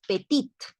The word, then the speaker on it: petit: pero aquí no decimos petit Aunque si hemos escuchado quizás alguna vez decirle a alguien petit usted es petit o sea como de talla s verdad y este no se pronuncia la t por lo tanto no